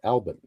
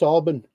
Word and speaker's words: Albin: at the time, and my whole life I had been told that our last name was Albin, pronounced as such, Albin. And when I went to Albin, Virginia, I was corrected by all the residents I spoke with. Oh no, it's Albin.